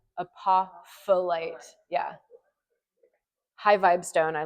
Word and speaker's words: apophyllite: Apophyllite. And like this other P is kind of silent. Apophyllite.